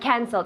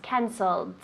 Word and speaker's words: cancelled: to be canceled good cancelled right so cancel cancel cancel but in the past cancelled and in the participle of the passive cancelled good pronunciation that t is strong we don't pronounce the e so it becomes a